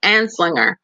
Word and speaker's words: Anslinger: How do you pronounce his name again? I say it's Anslinger. It's Anslinger.